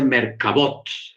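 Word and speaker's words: מרכבות: les llama las Merkabah, pero como aquí lo pronuncia en plural, por eso dice Merkabot, carros.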